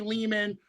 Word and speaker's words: Lehman: man but it's me Ari Leman rhymes with demon the first Jason Vorhees